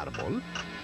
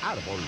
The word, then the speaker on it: árbol: ¿Lleva acento la palabra árbol? Que no sepas que la palabra árbol lleva un acento en A es tristísimo.